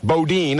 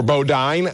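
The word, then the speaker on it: Bodine: so that you know how to say Boddin or Boddine. I always thought it was Bodin like Jethro Bodin. Haven't you ever watched the Beverly Hillbillies? Well, the Hillbillies pronounce it Bodin, not Boddine. Maybe it maybe Jeff Boddine like iodine or iodine Kurt Bush ahead of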